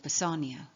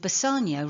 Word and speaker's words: Bassanio: upon Anthony Bacon, with Bassanio representing Francis Bacon. Bacon, in Italian, a single C is pronounced S, and it will be